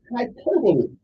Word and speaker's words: hyperbole: going to explain it to you the word is spelled h y p e r b o l e it is pronounced hyperbole let say one more time hyperbole h y